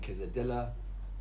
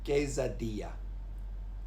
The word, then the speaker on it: quesadilla: And this one, I was always saying quesadilla for years, but it's a y sound again, so it's quesadilla.